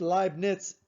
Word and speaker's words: Leibniz: spelled like that but there's no t it's live nits n-i-z i'm pretty positive that's